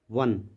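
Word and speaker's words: won: have आएगा have not वन वन the match देखो डब्लू ओ एन को जो है वन कहा जाता है जैसे ओ एन ई वन होता है इसका उच्चारण भी उसी तरीके से होता है वन द प्लेयर्स हैव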